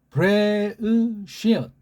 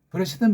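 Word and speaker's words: בראשית: 트 이렇게 할 수도 있고 브레우시웃 이렇게 하면 돼요. 이걸 이제 서양 애들이 읽는 식으로 브레시트는 많이 하고 또 걔네식을 했기 때문에 식민지 근성으로 더 굳어지는 줄 모르고 더 완전히 놀이교로 전락한 브레시트, 그런 발음이 되는 거예요.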